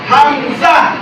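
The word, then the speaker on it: همزة: আমরা বলি না দুইজা এরকম বলি না এই উচ্চারণটা এরকম হবে হামজা হামজা হামজা হামজা ঠিক আছে ইনশাআল্লাহ ইনশাআল্লাহ এরপরে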